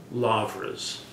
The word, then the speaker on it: lavra: number of very large lavras there. A lavra means a big, L-A-U-R-A in the Greek pronunciation, means big monastery, essentially.